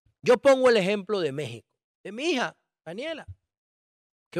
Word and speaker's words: México: escrito el texto Pero si tú pronuncias la palabra México la x no suena entonces México debe escribirse